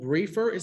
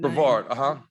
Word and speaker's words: Brevard: Jakai Briefer, am I pronouncing that name? Brevard, Brevard, excuse me.